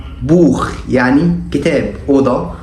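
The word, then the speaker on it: Buch: السي اتش سي اتش سي اتش عندنا لو جت بعد ثلاث حروف معينين بتنطق خا خا الثلاث حروف دول هم الا او احفظهم عشان لو السي اتش جت بعدهم بيتنطق خا ثم اشبيل بوخ بوخ يعني كتاب اوضه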